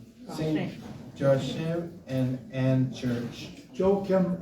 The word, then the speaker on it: Joachim: Joachim and Ann. It's the proper pronunciation.